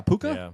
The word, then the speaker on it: Puka: Yeah, Puka.